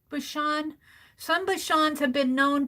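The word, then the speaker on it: Bichon: you have a if am I pronouncing that right Bashan b i c h o n Bashan or Bashon Bashon some Bashon have been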